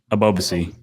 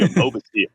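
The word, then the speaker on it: Ebobisse: Help me out. Abovey. Jeremy. Almost completely butchered that man's name, but Jeremy Abobasi.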